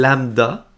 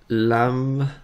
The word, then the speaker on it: lambda: Et ça se prononce comme ceci. Lambda. C'est un peu particulier comme mot quand on voit ça pour la première fois, là. Mais c'est simplement une lettre grecque.